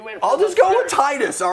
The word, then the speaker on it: Titus: But like here, is it supposed to be tetus? Tetus would be the Japanese pronunciation, but we don't like we don't do that. We don't look at a T and an I and make a TE noise in our head.